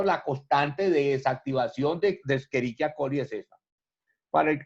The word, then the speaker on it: Escherichia: Recuerde que la Escherichia, así bien pronunciado, no es Escherichia, es Escherichia. La Escherichia coli es un